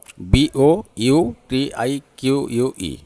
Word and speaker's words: boutique: BOUTIQUE, इसको क्या बोलते हैं? मैं स्लोली बोलता हूँ तो वो ज़्यादा थोड़ा उनका प्रोनाउंसिएशन, थोड़ा इंडियन प्रोनाउंसिएशन थोड़ा डिफरेंस होगा, लेकिन आप थोड़ा मार्क कीजिए प्लीज़।